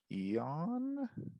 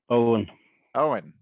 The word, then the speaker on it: Owen: to pronounce your name is it eon no did i miss it um owen yeah pronounce it like o-w-e-n oh and then just